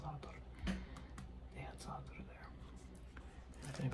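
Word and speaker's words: Za'atar: And the reason why it's important is because they had Satar, or the Satar, it's pronounced Satar.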